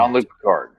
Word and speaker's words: Jean-Luc Picard: Jean-Luc Picard.